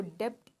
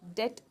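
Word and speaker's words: debt: ऑफ एटीएम में होना इसको डेप्थ नहीं प्रोनाउंस करेंगे बी को थोड़ा सा कम प्रोनाउंस करना है साइलेंट है ये दत प्रोनाउंस करेंगे ठीक है सो बी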